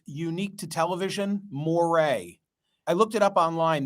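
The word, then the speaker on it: moiré: I don't know if it's Unique to television Moray I looked it up online they spell it m-o-i-r-e and it means that it's a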